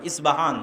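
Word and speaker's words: اصفهان: আমরা প উচ্চারণ করি ইস্পাহান আরবিতে এটা উচ্চারণ হয় না আরবিতে হয় আল আসবাহানি বা উচ্চারণ হয় ইসবাহান বা সেখান থেকে 70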